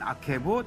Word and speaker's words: 아케브: 엔 아케브 등등 몇 네. 개가 있는데 오늘은 엔 에케브 엔 또는 뭐 아케브. 에케브, 네. 아케브 다 같은 발음인데요.